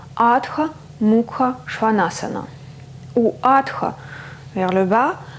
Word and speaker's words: Adho Mukha Shvanasana: En sanskrit, le nom de la posture se prononce Adha Mukha Svanasana ou Adha vers le bas, Mukha museau, Svana chien, Asana posture.